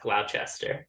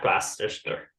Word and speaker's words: Gloucester: ] yep thank you that's definitely pronounced Gloucester not Gloucester all right you know